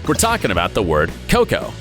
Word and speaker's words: coco: The problem is that if you put the accent on the first syllable, you get the name of the fruit, but if you put it on the second syllable, how to put it mildly, that's basically what people's natural residues are called.